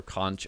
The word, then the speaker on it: conch: are also magic and Demon conk or conch items yes both pronunciations are valid depending where you live which teleport you to